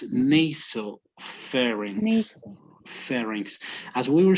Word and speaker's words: pharynx: Pharynx.